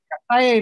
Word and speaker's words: calle: Calle means street, and LL is pronounced like a Y, Calle.